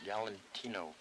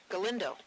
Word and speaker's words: Galindo: Galantino. No, Galindo.